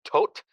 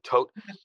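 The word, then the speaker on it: Tod: in ger was that tote to o d uh but it's pronounced like the D is pronounced like a t so tote anyway tote and stool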